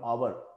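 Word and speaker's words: hour: एच ओ यू आर, आवर हम बोलते हैं या आर बोलते हैं या आवर बोलते हैं, हावर नहीं बोलते हैं। ये इसमें एच की जो साउंड है वो साइलेंट है, उसकी आवाज जो है नहीं बोली जाती है बोलने में।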